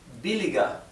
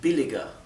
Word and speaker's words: billiger: Nuevamente, aquí recuerden que no se pronuncia UR, sino que se pronuncia UA. ¿Bien? UA, como si fuera una U y una A, y la R es casi imperceptible.